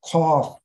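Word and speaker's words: قاف: Al-kaf refers to k in English, but harf al-qaf, qaf, not kaf, qaf, mufakhamun. You raise your tongue when you pronounce qaf.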